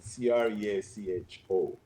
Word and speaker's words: Creacho: I would say it's creature. With the I O. mean, if you want to, if you want pronunciation, Creacho, creature.